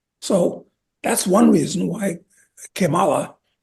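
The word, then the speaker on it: Kamala: that's one reason why cimala well I'm pronouncing it in the Spanish manner incidentally again get back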